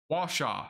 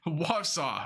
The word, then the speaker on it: Wausau: Perfect timing on pronunciations. Jawanu. Washaw. Or Wausau.